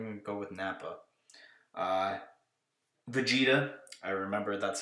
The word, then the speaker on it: Vegeta: Vegeta. I remember that's how it's pronounced because I watched Dragon Ball Z at some point.